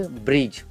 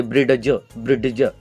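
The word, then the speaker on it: bridge: कोई नहीं तो बोलेंगे ब्रिडज, नहीं बोलना है। डी का प्रोनाउंसिएशन नहीं करना नहीं है, सिर्फ सीधे ब्रिज बोलना है।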